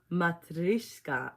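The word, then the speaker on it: матрёшка: Matrishka.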